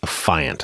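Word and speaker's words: affiant: author of an affidavit you're then called an affient or I've also heard it pronounced affient it's a-f-f-i-a-n-t and what that means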